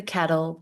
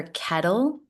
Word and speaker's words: kettle: That's the pot calling the kettle black. Now in this expression, we're using a flap T for kettle instead of kettle. Make a D sound instead of a T.